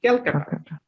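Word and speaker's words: Calcutta: am from Kolkata so Kolkata না বলে কলকাতার ইংলিশ হচ্ছে আমরা হচ্ছে ক্যালকাটা তাহলে আপনি ক্যালকাটাই বলবেন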